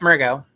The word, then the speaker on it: Mergo: Tonight we have Mergo. That's Hello. how you pronounce it, right? Yep, Mergo.